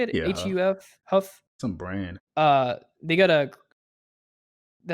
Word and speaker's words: HUF: Yeah, HUF Huff.